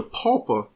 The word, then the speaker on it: pupa: the larva phase, the pupa stage, P-U-P-A. Sometimes the way I've heard it stated, it seems like it's one syllable. I'm saying it is two syllables.